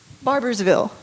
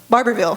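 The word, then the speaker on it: Barbourville: Barbersville. Barberville. It's not spelled the same.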